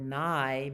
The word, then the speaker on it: nigh: Sleep is nigh. Remember, we talked about that word nigh means near, and it rhymes with sky.